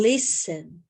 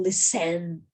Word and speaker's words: listen: Mas na palavra listen, onde eu faço a ênfase ao falar? Onde eu falo mais forte? É no lis ou é no ten? É no li. Eu falo listen. Eu não pronuncio listen ou listen. Não é assim.